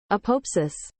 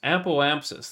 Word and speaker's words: apoapsis: Apopsis. That's not how you say that. How to pronounce this?